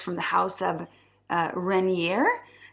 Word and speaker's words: Renier: So here I have a really nice fragrance called Kisses Rain, and it's from the house of Renier. It's spelt R-E-N-I-E-R, and it's a house from the